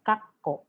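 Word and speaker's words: かっこ: important notice the examples we have the word kako which means past but if it is turned into double consonants kakko that will mean now brackets and if it is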